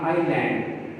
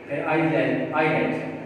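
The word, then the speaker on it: island: Silent S, यहाँ पर कब S साइलेंट होता है, जब पहले इससे I आ जाए, तो उसके बाद अगर S आ जाए तो उम्मूमन S साइलेंट होता है। जैसे यहाँ आइलैंड, आइलैंड, तो ये वर्ड है,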